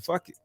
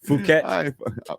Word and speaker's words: Phuket: I don't even know if I'm saying it right. It's Phuket. Bro. No, seriously. When I always said it, I always thought it was like fuck it.